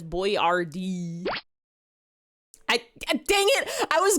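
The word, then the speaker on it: Boyardee: No one knew how to pronounce it, so he wrote it out as boy RD.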